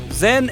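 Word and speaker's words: 甄: le nom de canton Zen est la prononciation du nom de la fille de la dialecte Pékin tandis que la famille yen et la prononciation cantonnaise le père de la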